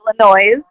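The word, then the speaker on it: Illinoise: a ton of fun Illinois noise with the E on the end not not pronoun I'm not mispronouncing the State Illinois it's intentionally Illinois there's no noise in Illinois there's no noise in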